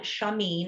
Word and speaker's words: Chamine: called Positive Intelligence by Shirzad Shameen. His last name is spelled Chamine.